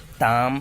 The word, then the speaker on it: ताम: कहाँ पर आकार है, यहाँ ताम है, तम नहीं बोलना है।